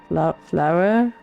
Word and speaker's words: flour: Same as flower.